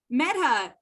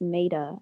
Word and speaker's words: Maida: fine all right um meta pronounce your name for me and introduce yourself yeah my name is pronounced maida actually made a that's beautiful thank you